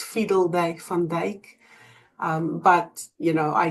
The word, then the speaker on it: Fiedeldey-Van Dijk: So, um, it's fiddle day fand.